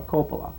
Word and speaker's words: Coppola: movie by Francis Ford Coppola or Coppola depending on how you say it this should be out